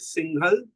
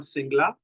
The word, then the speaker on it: Singhal: It is also Amit Singhal, not Singla.